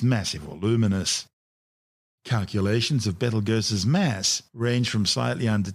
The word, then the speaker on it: Betelgeuse: sting on orion's shoulder currently known as battlegirls commonly referred to by the public as beetlejuice don't say it three times the names of birth tortured mispronunciations of the original arabic name iptalyaza meaning the hand of the big man the big man being